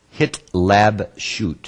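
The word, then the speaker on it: התלבשות: here hit Leb shoot hit lab shoot you can break it down in three syllables hit lab shoot hit lab shoot the emphasis is on the last syllable HB SHO now what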